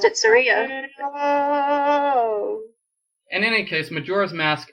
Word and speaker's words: Saria: sari It's s s could you pronounce it Saria like Maria would that be easier to uh I think I always pronounced it Saria in any case Majora's